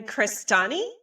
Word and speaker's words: Crestani: Cristani.